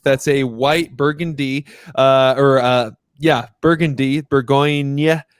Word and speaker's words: Bourgogne: Bourgogne is how you say Burgundy in French.